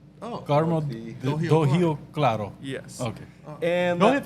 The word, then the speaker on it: Carmo do Rio Claro: Carmo do Rio Claro. Oh. Carmo do Rio Claro.